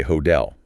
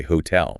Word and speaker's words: hotel: Think of the word hotel. The stress is heavily on the second syllable, hotel. Because that second syllable is a strong, anchored beat, the T requires the high effort explosion of air. We do not say hotel, we say hotel.